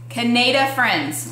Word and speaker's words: Canadifriends: This is for all of those that are not sure how to pronounce it. Canadifriends, like yes. Canadian and Friends put together.